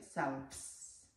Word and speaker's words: selves: La F cambia a V y se pronuncia selves, ¿ok?